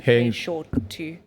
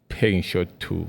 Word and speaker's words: Peixoto: Will you guys If you try and pronounce it, he actually taught me this. And you say it's like paying someone short. So pay short to. Paying short to.